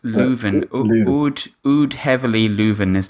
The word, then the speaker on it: Leuven: but if you leave another is how it's pronounced Leuven would you'd heavily Luverne is the full name